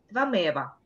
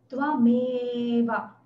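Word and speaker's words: त्वमेव: Сначала с «э», долгое «э». Я произношу ее сейчас заведомо укороченной, для того, чтобы сделать ошибку и показать. Твамева. Can you tell, Usha? Yes. Твамева. Твамева. Ме. Долгое «э».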